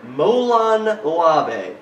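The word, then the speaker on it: Molon Labe: i'm holding in my hand a disc for molan labe did i pronounce that correctly exactly excellent and uh tell us a little bit about this movie is this your latest one molon lavey was released last september it is our sixth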